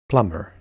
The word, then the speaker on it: plumber: Plumber.